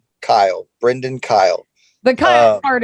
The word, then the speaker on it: Kyle: And it's BRENDYN Kyle, Brendyn Kyle. The Kyle part is totally normal. The Kyle part's totally normal. Yeah. The way that it sounds, that's how it's spelled, Kyle.